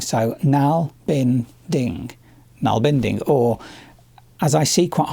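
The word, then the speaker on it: nålbinding: this is just my quick overview of what Nalbinding is.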